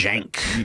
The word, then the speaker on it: Cenk: you said it that way, I was like, Cenk. You kind of. I think it's pronounced Cenk.